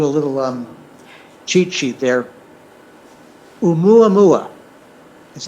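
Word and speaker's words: ʻOumuamua: Oumuamua is how you pronounce that one.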